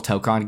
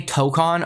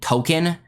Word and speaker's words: Tōkon: But more importantly, I think the bigger issue is that when Americans say Tokon over and over, they're going to eventually end up saying Token, which sounds a lot like Tekken, which is a direct competitor of this game, right?